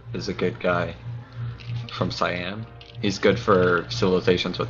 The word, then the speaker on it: Siam: I heard cyan. Oh. Yeah, like the color.